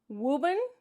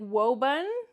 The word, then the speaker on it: Woburn: So this pronunciation, I don't know what they're trying to say, like Woburn, but there's definitely an oo sound. I know that there's just one O in Woburn, but it's definitely an oo sound.